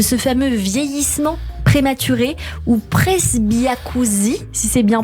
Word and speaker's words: presbyacousie: leurs oreilles de ce fameux vieillissement prématurée ou presbyacousie, si c'est bien prononcé, Absolument.